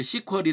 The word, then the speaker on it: SQL: 그래서 sql 이라고 써놓고 어떤 사람들은 이렇게 시 쿼리 라고 발음하기도 합니다 그런 사람도 있으니까 cor 그래도